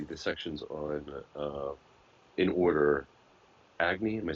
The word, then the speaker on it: Agni: And again, just that would be the sections on, in order, Agni, am I saying it right? Yeah. Mm-hmm. Agni, Soma, and Indra.